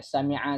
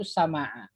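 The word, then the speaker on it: سَمِعَ: Ya, sami'a, sami'u, sami'at, sami'ata, sami'na, sami'ta, sami'tuma, sami'tum, sami'ti, sami'tuma, sami'tunna, sami'tu, sami'na. Sami'tu, ya, ini menyimpang sedikit. Orang Arab ada yang bacanya itu sama'a, bukan sami'a. Jadi sama'a.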